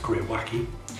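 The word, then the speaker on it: greywacke: petyon scheme you may have notice this term gray wacky in between sandstones and mudstones on the Pyon scale and here it is pronounced gray wacky and this is an older term for very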